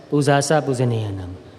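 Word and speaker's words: Pūjā ca pūjanīyānaṃ: Pujacha Pujaneyanam. We Burmese pronounce that as Pujasa Pujaneyanam.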